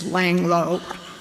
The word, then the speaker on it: Langeloh: my name is but it's laying low because people don't know how to pronounce them my husband and husband Ray and I had been members of this church since March of 1958.